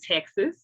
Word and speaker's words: TExES: okay question number one what is texas why is it spelled like that i thought it was t-e-x-a-s okay pause let's let's